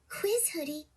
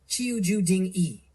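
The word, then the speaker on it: qiuzhudingi: Quiz Hoodie. It's pronounced Chuju Ding E.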